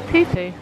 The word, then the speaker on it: pupu: And we learned today that appetizer in Hawaiian is pupu, and that's how you say it.